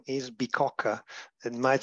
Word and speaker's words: Bicocca: Actually, the right name is Bicocca. It might sound difficult to be pronounced, but it's the name of an old